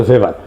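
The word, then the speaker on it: Weber: না আরেকজন দার্শনিক আছে ম্যাক্স ভেভার এটা ওয়েভার বলে অনেকে এ উচ্চারণ আসলে ভেভার তার একটা লেজিটিমেসি এবং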